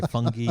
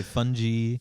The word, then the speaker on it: fungi: yep feral fung fungi there's there's infinite ways to say it fungi is the proper way to say it you could say fungi you could say fungi feral f-e-r-a-l fungi f